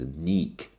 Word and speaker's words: Nick: But when he was in Germany, the women referred to him as Neek, which, rhymes with Deke.